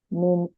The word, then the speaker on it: Name: So another thing you need to know in German is almost every word is pronounced, unlike in English that you use phonetics, it's a bit different in German. So you try to pronounce like every word. So that's why it is Name, not name.